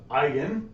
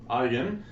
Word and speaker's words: eigen: some funny sounding words this is how we pronounce it eigen eigen so we're going to